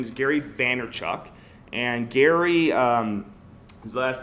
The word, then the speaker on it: Vaynerchuk: His name is Gary Vaynerchuk. And Gary, his last name is Vayer. Vayner. Hold on, I gotta spell it out.